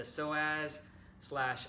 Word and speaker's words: psoas: number five is the psoas / upper hip massage so so as is spelled nothing like it sounds its psoas basically it's a set